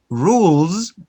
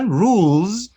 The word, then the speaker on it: rules: The examples, we have birds, notice the allomorph, birds, rules, you write S, but you pronounce Z, rules, rules.